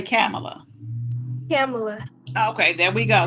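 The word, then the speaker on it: Kamala: you say it wrong if somebody say it wrong just say excuse me that's camela Harris Camala uhuh yeah no no no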